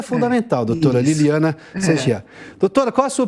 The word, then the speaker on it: Liliana: Tá, doutora Liliane Segera, aliás, antes de tudo, eu estou pronunciando o sobrenome da senhora corretamente, doutora, por gentileza? Sim, só que é Liliana.